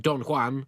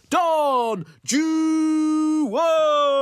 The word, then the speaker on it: Don Juan: Childe Harold's Pilgrimage and Don Juan, or as you Brits hopelessly pronounce it, Don Juan!